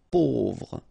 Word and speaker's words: pauvre: A, U together will produce this O sound. Pauvre.